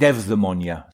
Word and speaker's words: eudaimonia: So Greeks would pronounce it eudaimonia.